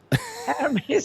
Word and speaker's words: Hermes: don't know if you would pronounce it Hermes or Hermes. Hermes, unless you want to refer to the scarves.